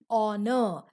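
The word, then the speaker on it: honour: saying an air and honor so here the sound h is not pronounced similarly here also the alphabet or letter h is not pronounced we begin by pronouncing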